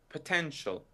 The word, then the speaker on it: potential: Today’s word is POTENTIAL. And our listeners must have already noticed that the stress is on the second syllable.